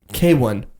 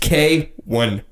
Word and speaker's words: KWN: His name's K1. K1? K1. Spelled KWN. K1. KWN. KWN K1. That's how you say it? That, you know what? I can even prove it to you. That it's on a Spotify bio. That's how we... Bro, would you have to phonetically tell people how to say your name? Pronounced K1.